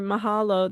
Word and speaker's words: mahalo: See like uh this one here, mahalo, that means thank you. Um so you just pronounce everything like with a everything gets a sound.